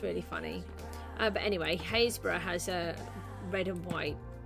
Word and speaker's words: Happisburgh: I did it with red and white concrete, because here Haysborough has Haysborough is a really funny word, so it's pronounced Haysborough, but it's spelt like Happisburgh.